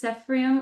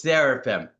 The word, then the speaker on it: Seraphim: me if I mispronounce, Cephrium on the Cusp of Spring. Seraphim is the highest level of angel. I don't know if you know that, but it's Seraphim. And you were wondering about Queen Muse, right?